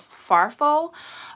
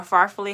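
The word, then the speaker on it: farfalle: then we po pour in a box of farfo um or farfully however you want to pronounce it barilla pasta so those are the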